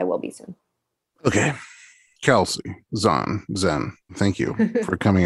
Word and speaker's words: Zahn: Zahn.